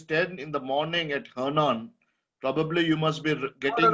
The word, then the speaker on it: Henan: And province right now, I'm in the the province in the middle part of China, which is written as Henan, which pronounced like Henan, something like that. Henan.